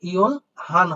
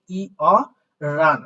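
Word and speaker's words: 열한: তাহলে এটার উচ্চারণ তো সাধারণত ইওল হান হয়, বাট এটা সঠিক উচ্চারণ না, এটার উচ্চারণ হবে ই অ রান, অর্থাৎ রিউলটাকে তুলে দিয়ে উচ্চারণ করতে হবে রান।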